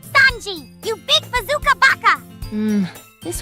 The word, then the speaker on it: Sanji: to cook food like that swane guy you won't shut up about it's pronounced Sanji you big bazooka Baka